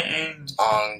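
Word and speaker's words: Aang: all I'm want to teach him how to pronounce his word like you don't say you say Ang don't get that yeah he likes to say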